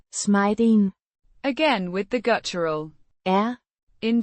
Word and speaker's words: smeden: Pronounced Smay-den.